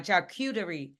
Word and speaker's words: charcuterie: Oh, now you got me saying it wrong. Charcuterie.